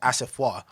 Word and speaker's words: Asafo: thing i always say my name is actually pronounced asafoe but because everybody like